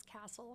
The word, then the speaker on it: Kastl: Well, I'll start with my last name is Castle spelled K A S TL. And you can't say your last name's Castle without people spelling it CL. So that people would pronounce K A Sl correctly.